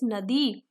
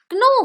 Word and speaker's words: know: ये क्नो होता है। क्नो में हम लोग के को प्रोनाउंस नहीं करते हैं, मीन्स के साइलेंट रहता है, हम ओनली नो बोलते हैं।